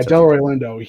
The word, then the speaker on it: Delroy Lindo: the first time i i would have yeah delroy lindo yeah he was not for the golden gloves